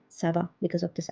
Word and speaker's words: ça va: Instead of saying ça va, we are saying ça va because of this accent.